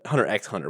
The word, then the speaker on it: Hunter x Hunter: I can see it are you are you supposed to say the X I was told not to say the X I was told that too but I refused because ah I see a